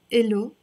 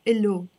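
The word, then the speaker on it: إله: Elo for him. And you notice here I am writing the H, but we don't really pronounce the H in Lebanese. We pronounce it just as a O. Elo.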